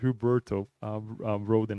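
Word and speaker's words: Huberto Rohden: by huberto Rhoden um I keep saying huberto but he's it's just huberto Roden I got to remember that so I don't when I say it I don't say it wrong but it's also for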